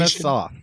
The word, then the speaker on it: Atanasoff: Yeah, the correct pronunciation. Atanasoff.